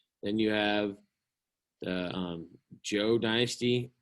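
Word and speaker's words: Zhou: you have the um joe dynasty it's spelled z-h-o-u but it's a hard j joe joe okay and then subsequently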